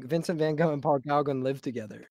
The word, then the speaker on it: Gauguin: It's pronounced Paul Gauguin. He butchering it really bad.